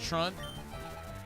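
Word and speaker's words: Truant: It's pronounced Trunt.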